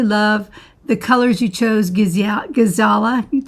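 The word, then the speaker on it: Giesala: Gizala, G-I-E-S-A-L-A, Gizala, I believe is how I pronounce it.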